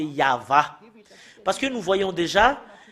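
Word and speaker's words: יהוה: en gras cette image, le fait de prononcer le tétragramme Yod, He, Vav, He, c'est ça qu'on le prononce, c'est Yahva.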